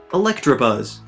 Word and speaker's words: Electabuzz: Electabuzz. This is another case of adding letters that don't exist, because there's no R in his name.